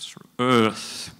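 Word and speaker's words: Eaarth: to pronounce it correctly you need to sort of remember your former Governor um sort of sort Earth would be sort of the the correct pronunciation we have 250 years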